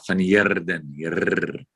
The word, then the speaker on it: van Heerden: I understand you have to roll your R. Yeah, van Heerden.